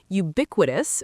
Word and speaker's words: ubiquitous: From pronunciation points, include ubiquitous with stress on the second syllable, would-tus.